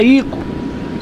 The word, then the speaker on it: Ico: Sim, a pronúncia é Ico.